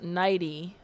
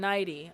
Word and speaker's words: Neidigh: Lawrence pronounced Neidigh. Lauren Neidigh. Oh, that's cute. I like that. I like how it looks like the word neighbor.